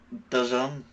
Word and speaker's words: DAZN: He used to work at DAZN, I think is how you say it. DAZN. It's definitely Dazn. doesn't.